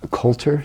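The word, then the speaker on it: Colter Wall: country out of Alberta how do you pronounce that again couter c o l t e r wall uh and I when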